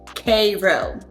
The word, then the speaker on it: Cairo: It's spelled Cairo but we pronounce it Cairo.